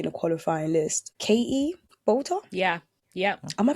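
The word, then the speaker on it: Boulter: Katie Bolter? Yeah. Am I pronouncing her surname right?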